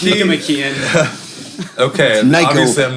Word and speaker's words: Nicomachean: okay, so It's pronounced Nicomachean.